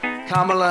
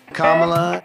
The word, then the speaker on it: Kamala: struggle or pretend to struggle with the proper pronunciation of our future president's name kamla Harris's shoulders kamla kamla Harris kamla Kamala Harris kamla kamla Harris